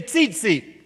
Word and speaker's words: tzitzit: Okay, everybody say tzitzit. It's T-Z-I-T-Z-I-T. So if you're twittering right now, that's how it's spelled.